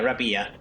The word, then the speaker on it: Rapia: Rapia should be fine. Yeah. Yeah. Rapia. That is kind of how you would pronounce it in my language as well.